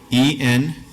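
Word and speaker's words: ⲉⲛⲧⲉ: So this would be E-N-T-E. Good, so you pronounce it.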